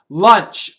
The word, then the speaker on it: lunch: vibrated the is not lunch uh short u again like stuff lunch Lounge launch lunch I launched